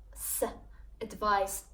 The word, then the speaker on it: advice: that is written with the letter C and pronounced with the sound advice it's a noun and it means an opinion